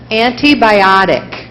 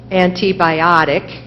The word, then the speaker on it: antibiotic: Yes, there are two. Antibiotic, antibiotic, and I pronounced it antibiotic.